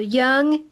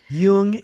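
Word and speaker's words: Jung: This is how I think Carl uh Young is it pronounced young or Yun. Yung.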